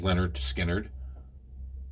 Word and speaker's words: Lynyrd Skynyrd: Florida uh first album came out in 1973 pronounced Leonard Skynyrd are pronounced lat nerd skin nerd it was